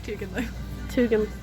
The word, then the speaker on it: Touganloo: Did you know you've been pronouncing it wrong? I have been. Togan? Yeah, it's Touganloo.